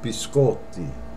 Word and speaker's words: biscotti: It's biscotti. And I hear a lot of Americans say, can I have a biscotti? Incorrect. Biscotti. And that means cookies, plural. Biscotti. Not biscotti.